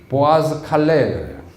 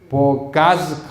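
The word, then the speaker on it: Boğazkale: 여러분 발음이 좀 이상하지요 Bo O 다음에 g 있잖아요 g지 이스 보통 영어 같으면 어떻게어요 보가스 이렇게 야 되잖아요 이거는 영어가 아니고 터키 말이에요 터키 말 위에 g 위에다가 주를 꺼 놓으면은 이형 발음 보가스 보스 보칼레 틀린 것이 아니고 터키 음으로 그렇게 하는 거예 그래서이 보아스 칼레에서 엄청난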